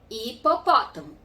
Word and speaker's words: hipopótamo: Hipopótamo é com H, mas eu faço a leitura a partir só da segunda letra, que é o I. Hipopótamo.